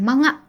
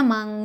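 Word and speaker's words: 漫画: masing-masing punya artinya gitu Jadi bukan manga ya awas kamu baca manga dulu ya uh uh Hah oleh masih ada nih kadang yang kamu Sagita pernah juga deh ditiktok Itu tentang cara baca ini tuh bacanya mangga Enggak cuma sih ada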